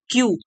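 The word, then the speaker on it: queue: है एक लाइन और स्पेलिंग देख लीजिए क्यू यू ई यू ई ये इसकी स्पेलिंग है और इसको अ प्रोनाउंस करते हैं हम क्यू तो एक लाइन में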